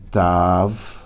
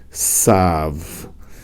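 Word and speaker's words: ת: Aqui a pronúncia é Tav, tá certo? Aqui a pronúncia é Sav. A pronúncia Ashkenazi. Os Ashkenazim leem aqui sem pontinho com S.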